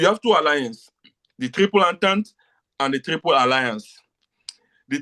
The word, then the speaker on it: Entente: That's E-N-T-E-N-T-E.